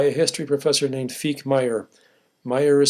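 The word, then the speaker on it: Meijer: Deadly Sport, by a history professor named Feek Meyer. Meyer is spelled M as in Minnesota, E-I-J-E-R, in case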